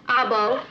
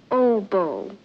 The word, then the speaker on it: oboe: he brings everything clarinet back our bow I believe that's pronounced oboe robber Lobo he plays it